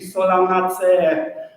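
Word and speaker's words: Solanaceae: So it should be solanacee. I've already heard mispronunciation of the solanacee, so remember double E sound.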